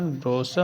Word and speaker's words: brochure: इसके प्रोनाउंसिएशन को अगर देखोगे BROCHURE प्रोनाउंसिएशन ब्रोशर होता है, तो रा का भी उच्चारण बहुत हल्के से किया जाता है।